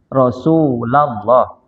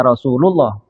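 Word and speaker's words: يا رسولَ الله: Tapi kalau sudah ada ya-nya bacanya itu ya rasulallah bukan ya Rasulullah. Ya Rasul ya Rasulullah itu yang benarnya ya.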